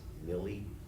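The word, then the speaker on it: Milley: austin did uh general i think the pronunciation is milly he's the chairman of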